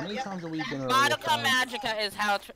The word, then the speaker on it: Madoka Magica: How many times are we gonna Madoka Magica is how it's said, Jesse.